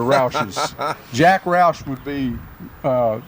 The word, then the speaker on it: Roush: that's a Roush okay so I hear people call them rushes they're not rushes they're Rouses Jack Roush would be